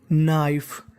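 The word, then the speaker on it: knife: बन गई ब्लैक काली नाइफ देखिए अगर कभी भी आपको एन से पहले अगर के लिखा मिल जाए तो हमें के का उच्चारण नहीं करना होता तो मीनिंग बन गई नाइफ।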